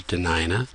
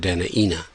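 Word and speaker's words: Dena'ina: The original pronunciation is DeNina, at least in the outer inlet or Kenai dialect, and largely in the upper inlet or Susitna area. In the inland area, it is often said DeNina.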